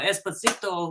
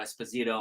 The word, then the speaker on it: Esposito: it's Giancarlo Esposito. Oh, Esposito. That was him. He was there. Reminds me of the song Despacito. Remember that song? Yes. Yeah. But it's Esposito.